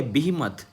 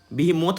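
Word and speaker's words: behemoth: जो next word है दोस्तों ये बिहिमत। बिहिमोथ मत पढ़िएगा, इसको बिहिमत पढ़ते हैं।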